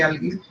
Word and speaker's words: algae: Single को अलगा कहते हैं, ओके, अगर सिंगल हम प्रोनाउंस करेंगे उसको तब अलगा प्रोनाउंस करेंगे, ओके, और मीनिंग जब तब अलगी।